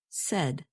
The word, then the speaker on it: said: spoke to her and notice that the past tense of say is pronounced said you can remember this